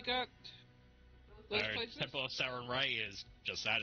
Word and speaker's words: Sarenrae: There's the Temple of Sarenrae.